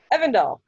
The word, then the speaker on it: Evandal: Evandal. Yeah. So that same Like spot. Rivendell without the river.